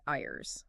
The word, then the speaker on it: Ires: Specifically, we're diving into chapter one, which is narrated by a being named Ires. That's spelled I R E S, pronounced I res.